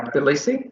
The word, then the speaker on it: Tbilisi: And you might be wondering, this is in Georgia near Tbilisi. Do I pronounce it correctly? Tbilisi?